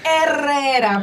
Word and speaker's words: Herrera: Herrera, por favor.